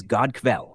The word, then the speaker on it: god kväll: 3, good evening is god kväll, pronounced like good kväll.